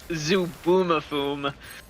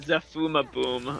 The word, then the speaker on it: Zubumafu: The show is pronounced Zubumafum. The F is the last syllable, the B is the middle syllable. I was saying it Zafumaboom or no, I think I was just doing both syllables with an F.